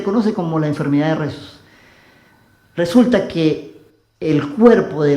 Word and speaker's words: Rhesus: Existe una enfermedad, de esas enfermedades extrañas, se llama Rhesus, no sé si así se pronuncia, R-H-E-S-U-S, Rhesus, se lee en castellano así, pero con una H intermedio.